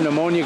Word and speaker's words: pneumonia: so you know what you can't hear pneumonia go to the bathroom because the P is silent it's ammonia it's like